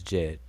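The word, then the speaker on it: Djed: that um the word jed is there's a couple of words in the egyptian language that that is the word jed like we pronounce it as jed and so the one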